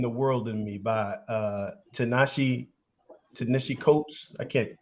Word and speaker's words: Ta-Nehisi Coates: I just finished this book, Between the World and Me, by Ta-Nehisi Coates. I can't pronounce his name. Yeah. Ta-Nehisi Coates.